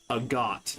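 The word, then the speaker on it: agate: Agot is correct for how you pronounce the word spelled. A G- A T E.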